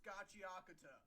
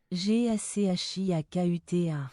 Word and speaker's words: Gachiakuta: That's not how you pronounce Gachiakuta. Actually, it is. Unlike what that guy said, it's not two separate words. It's Gachi and Akuta smashed together into one word.